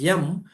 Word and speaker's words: yam: The pronunciation is yam, which is beneficial.